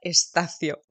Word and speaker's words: Estacio: que es estasio a pesar de que mi apellido se pronuncia estacio y soy actriz soy